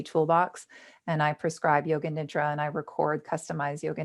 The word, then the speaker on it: nidra: retailers to buy it the way that the practice is pronounced it's yoga nidra n-i-d-r-a there was a